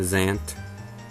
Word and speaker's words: Zant: then we have zant this one's not any real harder either it's just one syllable too it's just the zant and his japanese name